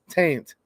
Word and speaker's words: Tate: dude you're mispronouncing it it's not Tate it's taint okay former speaker Joe